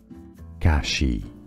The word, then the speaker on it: Kashi: Kashi, 2 syllables. Ka-shi, Kashi. We are looking at how to pronounce these names.